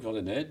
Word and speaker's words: Van Den Heede: Je suis incapable de prononcer votre nom, je m'en excuse. Pouvez-vous nous... Eh ben, je m'appelle Jean-Luc Vandenet, mais c'est vrai que c'est beaucoup plus simple, VDH.